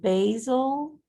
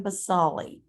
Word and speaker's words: basale: Couple of different pronunciations depending on where you learned the word. If you learn the word in a zoology setting about animals, you typically pronounce it basale. Basal is how we pronounce it if you learned it from a botanist.